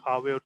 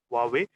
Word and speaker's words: Huawei: Huawei is the correct pronunciation. It's not Huawei or anything like that. Huawei.